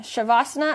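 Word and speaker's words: savasana: you can do s there's no h you just make the s sounds like an h so it's s a v a n sha or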